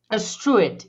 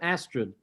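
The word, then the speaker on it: Astrud: you talking about i didn't catch that street astruit is how it's actually pronounced oh is it yeah oh and all these years i've always said astrid no astrid that's true yeah anyway anyway this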